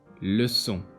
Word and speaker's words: leçon: This letter is pronounced as S. Leçon, conçu.